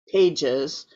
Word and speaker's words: Pages: piano player uh art he pronounces his own name art Pages which he might have anglicized from Arturo pajes we don't know um he prefers to be called Art pages so Herbert Halpert interviewed